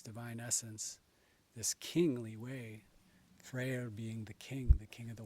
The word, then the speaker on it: Freyr: But this time of August is historically a time to honor Frey, and Freyr, as you may pronounce it in Old Icelandic or Old Norse. You can also say Frey or Frey. This king of the world,